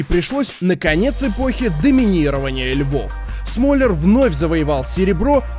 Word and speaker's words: Смоляр: артёму это конечно же ударение в фамилии так вот smaller не раз об этом говорил ударение ставится на о но поправлять людей smaller